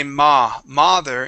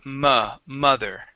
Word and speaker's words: mother: time mother mother yeah sometimes when you say the word you say ma mother instead of M mother okay that is an uh sound okay awesome yeah everything